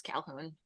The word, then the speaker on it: Calhoun: It's spelled weird, but it's Calhoun.